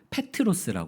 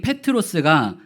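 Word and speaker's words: Πέτρος: 명사로 표현하면이 반석이라고 하면 페트로스 합니다 바로이 페트로스 베드로의 헬라식 발음이에요 베드로라는 이름 자체가 겁니다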